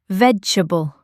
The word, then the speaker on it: vegetable: It's often said quicker, like vegetable. The middle part gets a bit shortened in natural speech.